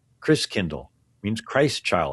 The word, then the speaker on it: Christkindl: And the German pronunciation of Christ child is Christkindl. Christkindl means Christ child, like kindergarten, kindercare, kind means child.